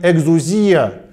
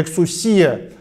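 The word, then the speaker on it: ἐξουσία: Очень важно помнить, что здесь стоит греческий термин «экзузия» или в другом произношении «эксусия» – термин, который означало в древнегреческой культуре лицензию для деятельности, возможность что-либо сделать.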